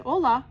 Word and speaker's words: hola: She was so excited to join them, but even though she said hola with a silent H, they waved her off.